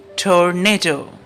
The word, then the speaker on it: tornado: world which is incorrect the correct pronunciation is tor nay doe repeat it after me tornado number three it is